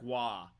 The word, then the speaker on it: Roy: to Oakland or Patrick Roy or Glenn Hall much respect Steve I do not follow you for this Patrick wah is the name of a hockey player it's spelled Roy so I don't follow